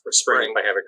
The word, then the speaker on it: Xpring: spelled x p r a and g but pronounced for spring i have it correctly uh and and how